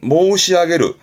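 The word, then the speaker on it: 申し上げる: 발음은 모시아게르 말씀드린다.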